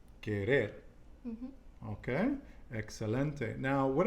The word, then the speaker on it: querer: In the end. Querer. Okay, it's not querer, but you did say it right, but I just want to emphasize to everybody, querer.